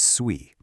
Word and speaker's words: Sui: But how does Sooie actually solve this traffic problem? Let's take a closer look at what this new blockchain is really all about. First things first, it's pronounced SUI.